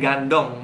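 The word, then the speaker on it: 感动: Ini pinginnya gandong, bukan bacanya kantong ya. Bukan kantong ya, tapi kantong. O dibaca U.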